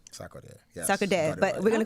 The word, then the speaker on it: Sarkodie: Let me say his name right, Sarkodie. Sarkodie, yes.